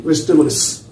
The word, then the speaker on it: vegetable: Today we are going to learn about some words regarding vegetables. In the word vegetable, vegetables is silent. The letter E is silent.